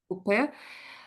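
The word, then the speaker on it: coupé: So are you saying coupe? I think we might say coupe. Coupe. It's Coupe. French word.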